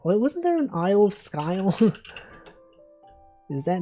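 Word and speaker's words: Skye: Wasn't there an aisle of skyle? Is that not a thing? Isleisle of Seagale. Is that pronounced sky? The aisle of skyle. It's like pretty similar, right? Sky. I guess it's sky, not skyle.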